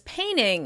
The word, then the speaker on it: painting: You may hear people say "painting" as "painning" instead: painning.